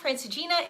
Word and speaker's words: Francigena: Francina. Thank you, Colleen. Yes. So the Via Francigena is not a way to Santiago, it's a way to Rome.